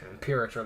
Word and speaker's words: Imperator: Impirator. That's how you pronounce it.